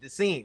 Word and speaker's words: D'Sean: Because so many people be like, Deshaun, they SHAW. No, it's the scene.